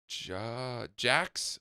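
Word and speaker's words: Jac's: So the place is called Jack's on Bond, but it's spelled JAC apostrophe S. Got it. Jack with no K.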